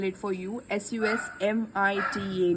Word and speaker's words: Susmita: idea is makeovers by Shushmita. And this Susmita, everyone like get confused with my name. Everyone put H in between, but it's Susmita. I can spell it for you, Susmita, not H in between.